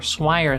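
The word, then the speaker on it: Swyer: If a person has something called XY gonatal disgenesis or swire syndrome, spelled funny but it rhymes with buyer, their gonads, instead of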